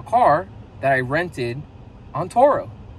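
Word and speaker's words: Turo: video about a car that I rented on Toro. It's spelled T-U-R-O. If you've never heard of it, you can go on Google. You can type in Toro and find it's a car sharing platform where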